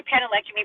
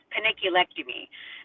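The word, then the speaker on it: panniculectomy: I always say penilectomy, but I think it's like paniculectomy.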